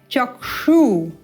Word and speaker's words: चक्षु: क्ष कैसे बनता है क एवं मूर्धन्य श को युक्त करते हुए बनता है क्ष चक्षु इस प्रकार से तो इसे चक्षु चक्षु ऐसा नहीं बोलना या चक्षु यह भी अनुपयुक्त है उपयुक्त उच्चारण क्या है चक्षु मूर्धा से क्ष उच्चारण करना है चक्षु रुन मी तम